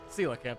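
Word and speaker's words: coelacanth: Sila camp, I think, is how those are actually pronounced despite how it's oddly spelled.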